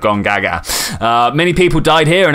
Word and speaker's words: Gongaga: That is actually how it's pronounced, Gongaga.